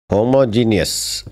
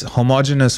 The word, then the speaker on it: homogeneous: let's try this one homogeneus but I am not homo I am no no it's not that's not what this means I am uh heterosexual no no that's that's it's homogeneous first of all and it means